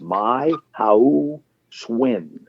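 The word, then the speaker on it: Mai Hữu Xuân: It's My Hao Xuan. The last name is like it rhymes with the word win.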